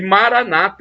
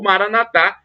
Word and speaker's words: Maranata: Deus todo-poderoso ele proverá e Maranata é como dizem os protestantes com a tônica na penúltima sílaba o Maranatha como dizem os católicos com a tônica na última sílaba mas o significado é